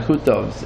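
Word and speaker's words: Zacuto: Portugal Zakuto yeah Zakuto and we call him Zus because Ashkanaz pronunciation but basically he was Um he was a a kum a brilliant person and an astronomer.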